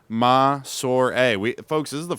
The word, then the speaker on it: Massore: that okay m a s o r e pronounced maor we folks this is the first time we